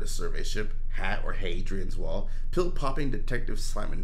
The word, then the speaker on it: Hadrian: Hadrian's Wall Hadrian a I would call them hadrians but that's just me uh oh you're you're a you're a long a for the I'm a short a for the h uh 1985 tensions between